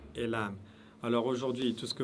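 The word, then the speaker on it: لام: Et le lam, prononcez-le, ou prononcez cette lettre toujours de manière légère.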